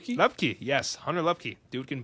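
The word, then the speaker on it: Luepke: Lupke, yes, Hunter Lupke, dude can ball.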